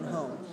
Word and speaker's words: home: Why do we have to pronounce the H? Because it's a noun, and nouns are content words, and we cannot omit the H in content words.